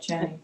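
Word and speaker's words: Jenne: How do you pronounce that? J-E-N-N-E? What? Jenny. Jenny? Jenny, yeah. Jenny Farm of Pyramid.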